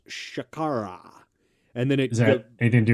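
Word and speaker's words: शर्करा: comes from a sanskrit word uh that is pronounced shakara and then exactly anything to do with your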